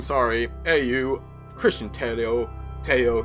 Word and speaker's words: Tello: Teo, not Tello, Christian Teo.